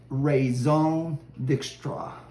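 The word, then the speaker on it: Raison D'Extra: So if you read the label, it looks like it says Raison Dextra. But if you're in the know, it's pronounced Raison Dextra.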